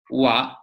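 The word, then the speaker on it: は: simple reason is that whenever ha is part of a word like Hanna or Hoshi or high or hanasu you pronounce it as ha however when the same kana is not a word but a grammar particle like in this case kon nichi wah we read it as wow that's all so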